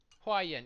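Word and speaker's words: Huaiyan: Allow me to introduce you to General Hua Yin. Hua Yin. Yeah, okay, I said it right.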